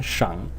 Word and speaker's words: 上: And when it is pronounced in the third tone, shang, it is the name of one of the tones in classical Chinese phonology, which is the shang sheng.